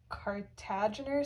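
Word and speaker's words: Kartagener: And if this is an autosomal recessive condition, you can have either, I think it's pronounced Cartagener syndrome. So that's the cart for Cartagener, and then you can also have Dynan arm mutations preventing our ciliary motor proteins from developing properly.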